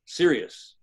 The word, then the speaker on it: Sirius: sky, the dog star, Sirius. Yes, I'm serious. It's spelled S-I-R-I-U-S.